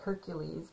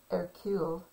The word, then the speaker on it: Hercule: poirot uh you know it looks like hercules but he pronounces it and he's a detective he pronounces it air q so anyway i don't